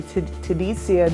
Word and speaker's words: Tadzia: interview with you I am Dr Dr tadesia is how you say my name but